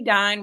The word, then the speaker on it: Dedyne: My name is Kimberly Dedyne, rhymes with divine.